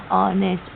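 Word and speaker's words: honest: ऑनेस्ट। ऑनेस्ट मतलब ईमानदार। आप सबको ये सारे लेटर्स ना पांच बार लिखने हैं स्पेलिंग के साथ और इनका दिन भर पूरा यूज़ करना है आज।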